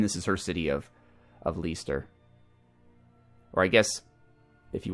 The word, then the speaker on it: Leicester: And this is her city of Leicester. Or I guess, if you want to pronounce it the British way, like Leicester, maybe?